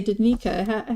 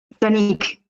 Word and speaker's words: Danique: Sometimes I say Danique and sometimes I say Danica. How do we say your name? Danique. Danique, okay. Yeah. So like a silent E on the end.